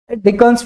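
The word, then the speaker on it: Dickens: इसका प्रोनाउंसिएशन कोई डिकेट करता है, डिचेन भी करता है, डिचेन्स फॉर्मूला, डिकेन्स फॉर्मूला, ठीक है, तो कोई प्रॉब्लम नहीं है, जस्ट नाम है वो।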